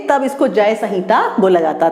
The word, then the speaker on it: संहिता: जय ऐसे एम से डिनोट करते हैं लेकिन हम इसको प्रोनाउंस संहिता करते हैं, सो दिस इज जय संहिता।